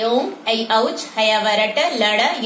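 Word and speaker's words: ऐऔच्: इसके अलावे छात्र प्रायः इसको ए औच पढ़ते हैं, लेकिन संस्कृत में इसका उच्चारण ऐ औ च होता है, ऐ औच।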